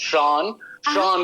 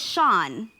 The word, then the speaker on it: Sian: Sean, you got to say it right, Sean. Yeah, everybody struggles to pronounce it. It's Sean now.